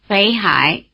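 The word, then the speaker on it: 北海: Before the low tone of "hǎi", the low tone of "Běi" becomes a rising tone, indistinguishable from the rising tone of "Nán". Listen. Nánhǎi Běihǎi Try repeating them. Nánhǎi Běihǎi Besides the rising tone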